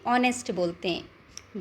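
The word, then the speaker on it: honest: ऑनेस्ट means ईमानदार बच्चों इसको कैसे प्रोनाउंस करोगे आप ऑनेस्ट ये एच साइलेंट है इसमें ठीक है इसको नेस्ट नहीं बोलते ऑनेस्ट बोलते हैं बीइंग ऑनेस्ट सो किड्स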